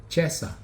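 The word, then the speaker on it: chesa: will be your uh Chessa here they they spell it c-h-e-s-a or you can spell it t-i-e-s-a this is also the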